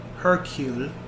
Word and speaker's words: Hercule: And uh Kenneth Brun's um character, Hercule, that's how you say his name.